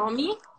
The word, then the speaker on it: nome: nomi. Ah, nome, ma si legge nomi, eh?